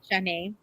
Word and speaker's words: Shanae: So, I want to know, Shanae, or is that how I pronounce it? It's Shanae, yeah.